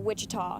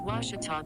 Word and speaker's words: Ouachita: at a baptist university back in texas everybody pronounces it wichita but really it's ouachita washington washington how would you pronounce it it's washita baptist university get it right it's water tall